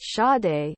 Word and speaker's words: Sade: Sade, pronounced Sade, is a singer.